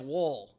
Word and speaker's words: wool: Yeah, it sounds like the word wool, like sheep, but it's like well then, but wool.